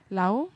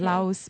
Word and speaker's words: Laos: benefit from the sectors i notice you say lao why is that lao yeah i don't know they don't really pronounce the s interestingly that's a bit